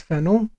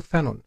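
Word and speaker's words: Fanon: لنيل درجه الدكتوراه وطبعا هو اسمه فرانس فانو لان هو بيكتب بالفرنسيه وثقافاته فرنسيه وحاصل على الجنسيه الفرنسيه لحد عام 54 حين تنازل عنها ولكن في عالم اللغه الانجليزيه في كتير بينطقوا فانون فرانس فانون في عالم اللغه الانجليزيه فانون ولكن النهارده انا يعني سالزم بنطق اسمه بالفرنسيه فرانس فانو و وتجد ايضا انه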